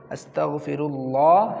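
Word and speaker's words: أستغفر الله: শব্দের পর, লাম খারা জবর লা, মাদের হরকত, আস্তাগফিরুল্লাহ, হা জবর হা, হরকতের উচ্চারণ তাড়াতাড়ি হা, আস্তাগফিরুল্লাহ, আস্তাগফিরুল্লাহ, আস্তাগফিরুল্লাহ, আস্তাগফিরুল্লাহ।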